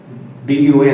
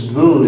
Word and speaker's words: Bun: B-U-N is Bun, as we would pronounce it, but it's Boone is what they would say.